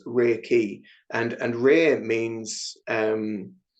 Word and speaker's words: reiki: with that one um reiki is kind of made up of two small words so there's rare r e i and pronounced re and then key uh pronounced key and so it's rear key and and rare means